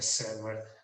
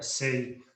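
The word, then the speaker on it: Say: A pronúncia é assim, é Sé, não é sei, não é sair, é Sé, em francês.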